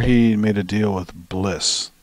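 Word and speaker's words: Bleass: So Jordan Rudess has a bunch of apps out through Wisdom Music, and before he made a deal with Bliss, they're spelled like Bliss, B-L-E-A-S-S, with the new version of this.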